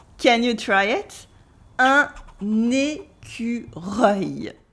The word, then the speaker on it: écureuil: Un écureuil. Can you try it? Un écureuil. Yes, it's difficult because it is a mix of the French E, the French U, the French R, and the French œil.